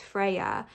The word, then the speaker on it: Freya: And then Freya is pronounced Frey.